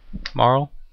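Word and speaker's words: Marle: Aya from Chrono Trigger how do you pronounce mer Marl oh okay that's probably better silent E Marl good enough I just [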